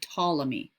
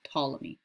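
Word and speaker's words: Ptolemy: was a guy named tmy the p is silent here tmy he resolved that problem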